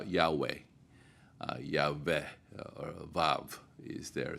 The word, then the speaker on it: Yahweh: a longest while uh we pronounce the name of God as a Jehovah uh and then uh at our best guesstimate we uh pronounce it now Yahweh yah or VAV is